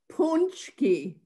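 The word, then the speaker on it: pączki: How do you say it? Punchki. Punchki. Punchki. Punchki. You know, gotta get it right. Punchki. Like punch. Punch.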